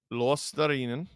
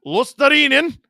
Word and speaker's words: Luostarinen: Luostarinen. Draisaitl wins it. I'm trying to fix my pronunciation of Luostarinen. Someone currently living in Finland told me how to say it. Stetcher. Oh, Lundell might have it. Luostarinen.